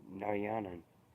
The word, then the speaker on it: Narayanan: Narayanan. Narayan. Hello. No, Narayanan. Yeah, that's right. Said it right the first time, I think.